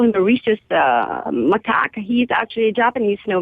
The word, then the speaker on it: macaque: The macaque. Macaque? And, and if you Google Japanese Japanese macaque? Yes, and they actually work as waiters in a Japanese restaurant. And macaques can work as waiters, huh?